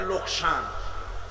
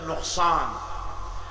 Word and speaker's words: নোকসান: আমাদের অনেক লোকেরা বলে লোকসান। ব্যবসায় লোকসান হয়ে গেছে। কথাটা ভুল। এটি আরবি শব্দ। এটার উচ্চারণ হচ্ছে নোকসান।